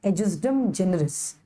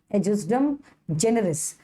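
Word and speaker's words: ejusdem generis: और फिर है एजिस्डम जेनरिस। क्या बोलोगे उसका प्रोनाउंसिएशन? एजिस्डम जेनरिस।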